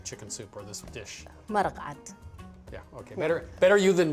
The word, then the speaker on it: Maraq: Maraqat.